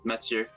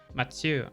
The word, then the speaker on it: Mathieu: Oh, it's the French version of Mathieu, and it's just pronounced Mathieu. Mathieu.